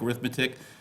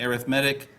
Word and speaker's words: arithmetic: on arithmetic spell it i know it looks like arithmetic but as an adjective we say arithmetic sequences and we've done